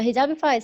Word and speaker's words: Hijabeefied: said hijabi food first. Hijabified. Hijabified. No, Oh, hijabified. almost like petrified from Harry Potter.